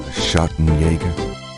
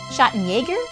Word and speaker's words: Schattenjäger: Schattenjäger. Schattenjäger?